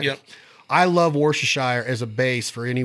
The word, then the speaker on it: Worcestershire: I've always used Worcestershire. Am I pronouncing that right? Yep. I love Worcestershire as a base for any wild game, if I am going to use a wet marinade.